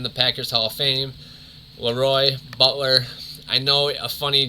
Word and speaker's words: LeRoy: that leroy's name was leroy butler so for one of those games madden was really pronouncing the lee roy butler instead of the leroy that his mother emailed